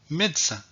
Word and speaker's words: médecin: n'ai pas prononcés donc le e qui est à l'intérieur du mot n'est pas prononcé donc on va voir des exemples pour illustrer cette situation alors voici mes exemples samedi à demain médecin samedi à demain médecins